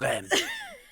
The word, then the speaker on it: Reims: And she was like, oh, you probably know it as Reims, but it's pronounced Rennes.